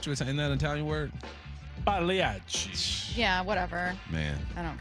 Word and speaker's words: Pagliacci: The G is silent. Pagliacci. Aren't you You Italian? say it a little bit. Aren't you Italian? Isn't that an Italian word? Pagliacci.